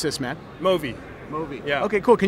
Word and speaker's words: Movi: How do you pronounce this, man? Movi.